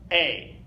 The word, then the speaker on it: E: the letter e a the letter E in German is pronounced a okay and we'll I'll